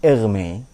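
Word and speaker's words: Hermès: er makan merk.tas tulisannya sama cuma beda cara bacanya Ya kalau ini merek tas Perancis Hermes ini er Me kalau Hermes dalam arti asal-usul hermeneutik hermeneutika Ernest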